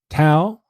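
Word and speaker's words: Thao: the other officers is officer tau i guess you would pronounce it t-h-a-o um and they had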